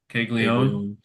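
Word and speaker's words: Caglianone: Kegleion. So that first N is just silent. It looks like it should be Keglia Nun.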